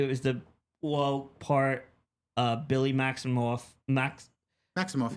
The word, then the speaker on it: Maximoff: Maximoff, yeah, you said it right.